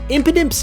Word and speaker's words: Impidimp: Impidimp's name is a syllabic palindrome, meaning if you break its name up into its 3 syllables, imp, id, imp, it will read the exact same both forwards and backwards.